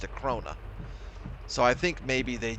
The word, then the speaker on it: Krone: I think correct pronunciation in German is Krona.